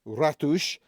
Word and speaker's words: ratos: party is pronounced Festa ratos meaning mice is pronounced ratush oh and hashish is